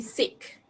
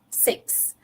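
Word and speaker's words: six: Okay, tapi student akan banyak jadi sick. Suka sangat berlakon sakit kan? Tak mau kelas, berlakon sakit jadi sick. Okay, 1, 2, 3, 4, 5, sick. Instead of 6. Okay, so the correct pronunciation is 6.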